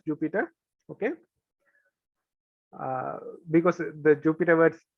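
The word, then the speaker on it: Jupyter: be using will be called the jupiter spelled differently but pronounced as jupiter okay because the jupiter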